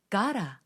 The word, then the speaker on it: gotta: to go 이 문장처럼 got와 to가 붙어 있는 경우에는 got to로 뚝뚝 끊어 읽기보다는 gotta 라고 발음을 하는 경우가 훨씬 많습니다. 자, 한번 따라해 볼까요? gotta, gotta. 너 이제 가라 라고 할 때 그 가라와 거의 같은 발음입니다.